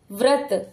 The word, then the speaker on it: व्रत: होगा आधा म उम्र व्रत व और त के बीच में देखिए क्योंकि पदेन की मात्रा इस व के नीचे लगी है तो व के बाद ही स्वर निकलेगा र का व्रत क्रम क के नीचे